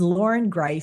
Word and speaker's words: Loren Greiff: as I said is Lauren gri and I say that very deliberately because it's not an easy name to spell or pronounce but um naturally I never want to be the giver of grief so um needed to